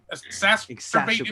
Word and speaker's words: exacerbate: Exacerbate, if you will. It rhymes with masturbate, but it's different.